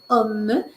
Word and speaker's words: homme: le cas de homme ce n'est pas h c'est homme c'est un ouvert et on prononce le M oui et voilà nous